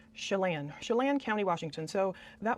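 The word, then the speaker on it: Chelan: Lan rhymes with can. So, I guess it's Chalane.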